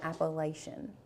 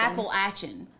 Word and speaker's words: Appalachian: a Tik Tok where somebody was saying it even worse than appalation Appalachian Appalachian Apple Ain Apple Ain all righty then Apple Ain this is how you say apple Ain app not Apple appalachin appalachin yeah Appalachian what